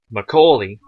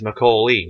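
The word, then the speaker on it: Macaulay: l a y now we pronounce my my family and I and quite a few others that we know pronounce it as mcoi as if it just had was either a straight l y or an l e y now know the fact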